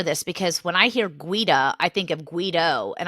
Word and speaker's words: Guida: They've since gone to, John and Michael were twins, but John and Michael Guida now. They're taking their actual Italian pronunciation of their last name.